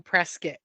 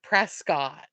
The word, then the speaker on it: Prescott: she has family that lives in PR in Prescot but I know it's presc instead of Prescott I know but come on why remember when